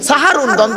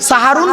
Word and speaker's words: সাহারি: করা হবে জবর দিলে সাহারুনের আকার দিলে সাহারুন শব্দের অর্থ হল রাতের শেষ অংশের খাবারকে আরবিতে সাহারি বলে তাহলে শব্দটা কি হবে সেহরি না সাহারি ভুলটা ভাঙলো তিন নাম্বার